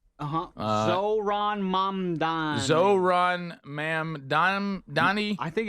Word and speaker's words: Mamdani: It's Mamdani. Zohran Mamdani.